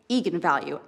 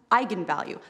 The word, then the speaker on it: eigenvalue: the director said yes that is how you pronounce it so I went out there and said that's right egon value and then apparently the internet went nuts when it came out because apparently it's pronounced eigenvalue that's how you're supposed to say I'm the